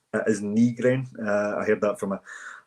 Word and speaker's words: Nygren: the one that's saying that I believe the official pronunciation is Nygren. It is Nygren.